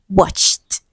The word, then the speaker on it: watched: So ed is on the line and it is pronounced t. So we are looking for t. Now you might be wondering, why is ed pronounced as t? Now please note this. The ed is a past tense marker. It indicates past tense, and so it has 3 different sounds. 1, t, as in watched, as in washed, as in kissed.